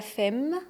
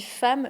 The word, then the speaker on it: femme: Pourquoi on dit pas femme ? Pourquoi on dit femme ? Je ne sais pas. Mais tout le monde dit femme, donc tu dois dire femme.